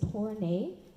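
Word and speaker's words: Tornai: a r a h my last name is tornay which is spelled t o r n a i this movement right now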